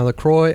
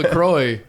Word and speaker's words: LaCroix: I've already got my coffee, my LaCroix. What did you say? LaCroix? La Croix. La Croix. Yeah. It's French. Okay. I think. Chris always saying LaCroix.